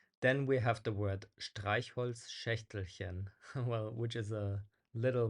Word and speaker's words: Streichholzschächtelchen: Yeah, it's just a fairly difficult to pronounce letter combination, but it's pronounced Streichholzschächtelchen.